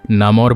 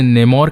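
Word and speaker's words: Namor: जो कि अपना नाम नामोर बताता है। कॉमिक्स में, मूवी में और साथ ही कार्टून्स में इसके अलग अलग प्रोनाउंसिएशंस हैं। कोई इसे नेमोर कहते हैं, कोई इसे नमोर कहते हैं, कोई इसे नामोर कहता है।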